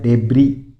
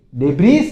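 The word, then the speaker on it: debris: फिर देखो डेबरी डेबरी इसमें एस साइलेंट रहता है इसमें सिर्फ आपको बोलना है डेबरी डेबरी यानी मलवा किसी चीज का मलवा होता है ना मकान का मलवा या फिर कचरे का मलवा कुछ भी इसको क्या बोलोगे डेबरी डेबिस नहीं बोलो बहुत से बहुत बच्चे बोल जाते हैं डेबिस डेबिस नहीं होता है डेबरी होता है फिर देखो नी नी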